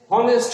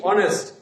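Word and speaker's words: honest: সাধারণত এইচ এর উচ্চারণ বাংলায় হ এর মতো উচ্চারিত হয়, কিন্তু এখানে হনেস্ট হয়নি, হয়েছে কি অনেস্ট।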